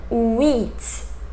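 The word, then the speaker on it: huit: And wheat, wheat. H in French, like in Spanish too, is silent.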